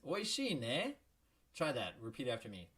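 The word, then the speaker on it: おいしいね: Oishii ne. Oishii ne. You hear how I rose my intonation there? It makes it into a question.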